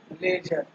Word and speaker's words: ledger: ठीक, same to का हम फर्स्ट चैप्टर करने जा रहे हैं कौन सा, लेजर। लेजर का डी साइलेंट है, याद रखना डी साइलेंट।